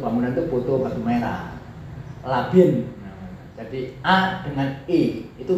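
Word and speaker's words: لبن: Yarbitu labinatiha ba'dua biba'din, sebab awas labin ya, bacanya labin, jamaknya labinat, tulisannya podo, lam bak nun, was ya, tulisannya podo, sing sitok fathah, sing sitok kasro.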